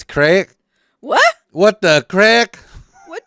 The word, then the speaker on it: craic: But it's crack.